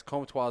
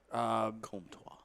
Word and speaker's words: Comtois: He doesn't French? even spell it like that. Yeah, very French. What gave it away? The Trois. So it's It's either the le or the trois or the wah.